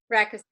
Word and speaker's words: Rakisits: Katie, how do you pronounce your last name exactly? Is it Rakisits? Rakisits? Rakisits.